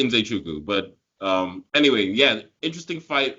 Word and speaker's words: Nzechukwu: It's like Nze Chukwu. It should be Nze Chukwu, but Anyway, yeah, interesting fight.